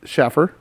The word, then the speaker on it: Schaffer: It could be Schaefer, but nobody put the pronunciation on there, Greg. So we're just going to call him Schaffer. He could be saying it wrong.